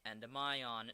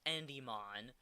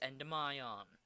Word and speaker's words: Endymion: And yes, I'm pronouncing it Endymion, not Endymion, not Endymon. It's Endymion. It's not that hard, people.